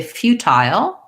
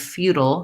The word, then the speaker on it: futile: So they say futile for the British version and feudal for the American version.